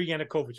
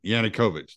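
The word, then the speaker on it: Yanukovych: government that is now in power right Victor yanakovich I said his name wrong victoriana coach yeah yannickovich there you go yeah um April April of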